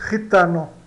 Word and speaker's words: gitano: Agora o J dá o RI, né? Também J espanhol e CH de Sprache, né? Então, se escrevemos cigano, nós escrevemos gitano, né? Mas pronunciamos gitano, gitano, tá? Então, G e J dá o J espanhol, que é o R de joven, de jovem, né?